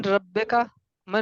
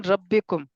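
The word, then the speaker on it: ربكم: अल्लाह, मन रब्बू मन रब्बिका, मन रब्बुहुम, रब्बुहुम अल्लाह, मन रब्बिका, रब्बुका, रब्बी अल्लाहु, मन रब्बिकुम। रब्बुना रब्बुकुम। अल्लाह। ये बात प्रैक्टिस करें तो आपको इंशाल्लाह प्रोनाउंसिएशन सही होगी। रब्बुकुम है, रब्बाकुम नहीं है, ठीक है ना?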